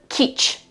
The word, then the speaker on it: kitsch: And in this case, in order to pronounce the ch, we use 4 letters, okay, T-S, C, and H. It's a very typical sound and it's a very typical spelling in German.